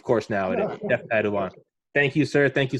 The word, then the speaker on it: Paduano: Paduano. Just like it's spelled. Yep. Okay. It's never that easy, and of course now it is. Jeff Paduano.